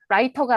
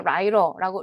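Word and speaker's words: writer: 그러면이 음문 규칙을 적용해서 제가 라이터가 아니라 라이러라고 이걸 르라고 발음한 거잖아요.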